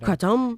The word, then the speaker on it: kratom: Kratom.